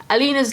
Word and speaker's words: Alina: I think that's Alina, that's how you pronounce it.